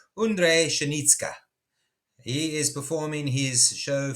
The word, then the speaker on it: Ondřej Pšenička: 26th is, and I'm going to use their pronunciation, Ondřej Pšenička.